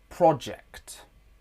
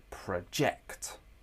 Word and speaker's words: project: For example, project and project. You can hear in the noun version of the word project. The word stress is on the first syllable. In the verb form of the word project, the word stress is in the second syllable.